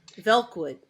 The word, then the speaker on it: Velkwood: Belk. Nice. Wait, spell it. Belk Uh, Wood. yeah, V as in Victor. Oh, V. Velkwood.